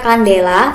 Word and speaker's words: candela: Satuannya adalah candela. Bacanya kandela, singkatannya adalah CD.